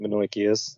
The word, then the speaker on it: Menoikeus: letter, the letter to, I keep pronouncing it Menoikeus, that's more the Greek pronunciation.